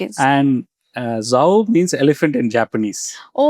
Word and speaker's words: Zo: So Zho is actually how is pronounced. Okay. And uh Zho means elephant in Japanese.